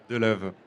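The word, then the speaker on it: De Leeuw: Avec Deleu, les guitares, je l'ai bien dit? De l'œuf. De l'œuf. Alors, parce que ça s'écrit D-E, plus loin L-E-E-U-W. Tout à fait. Alors moi, j'ai tout eu. De l'œuf, de l'huile. Donc c'est de l'œuf. C'est De la l'œuf. bonne version, on reste là-dessus.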